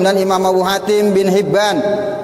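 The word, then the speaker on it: حبان: Rawahu Ibnu Huzaimah, meriwayatkan akan hadis ini oleh Imam Huzaimah, wa Abu Hatim, dan Imam Abu Hatim bin Hibban, bi kasril ha, bacanya kasroha, Hibban tuh.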